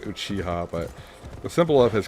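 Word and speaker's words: Uchiha: No, it's pronounced Uchiah, but the symbol of his clan is a fan, which I'm guessing is why the name's so similar.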